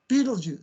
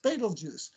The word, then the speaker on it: Betelgeuse: of winter winter triangle beetlejuice say it with me beetlejuice betelgeuse better lux better it's got about eight pronunciations rigel the blue star